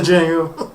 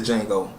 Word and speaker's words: Django: on the web saying Django and it was like like a few weeks ago I'm like it he even tell you the movie The D is silent and they they ignant